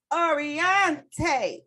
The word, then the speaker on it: Oriente: And come on, Miss Oriente. Say it like that, y'all, because that's how I say it.